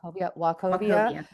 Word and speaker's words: Wachovia: Merrill Lynch, now owned by Bank of America, Wachovia. Did I pronounce that? I always mess that up. Yes. Wachovia, which is now owned by Wells Fargo, as well as JP Morgan and the private bank.